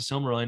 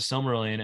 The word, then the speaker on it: Silmarillion: I came to learn more about the Silmarillion and the quality of the conversation. He says, I'm sorry, I put the wrong emphasis on the wrong syllable. I came to learn about the Silmarillion, and the quality of